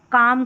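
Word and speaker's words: calm: और दूसरा है कि एल साइलेंट रहता है। जैसे वॉक यहां पर है। यहां पर इसको भी काम करके पढ़ेंगे। कॉलम नहीं पढ़ेंगे। काम और इसको भी हाफ करके पढ़ेंगे। हलफ नहीं पढ़ेंगे। लास्ट में देखिए एल क्या आ रहा है? एल एम यहां पर एल एफ। तो यहां पर जो है एल है वो साइलेंट है।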